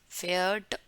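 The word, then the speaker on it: Pferd: Horse, फेयर्ट, इसका pronunciation कैसा है, फेयर्ट, फेयर्ट। ये जो डी है ना, ये कई कई जगह जहाँ पे एंड में आता है उसका उच्चारण ट होता है।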